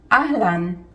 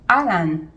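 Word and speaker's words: אהלן: It is "Ahlan". zeh lo "a-ha-lan". zeh "ah-lan". The H is silent.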